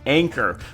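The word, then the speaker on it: ANKR: is going to be a nkr i believe pronounced anchor we are going to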